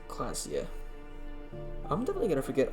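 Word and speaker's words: Klaasje: shawl orange perennials orange class c is pronounced classia i'm definitely going to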